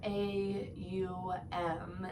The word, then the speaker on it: Om: Typically when we think of Om, we think of OM as this English language, but the 3 syllables are AUM, and it ends up Om.